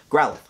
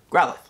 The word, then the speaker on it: Growlithe: how to pronounce this growl lift did i say that right growlithe i believe the e is silent that's what somebody told me i could never get this one right growlithe oh my god i